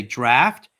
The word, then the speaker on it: draft: You can say draft or draft. Draft is the southern way, and if you live up north, you'd go draft.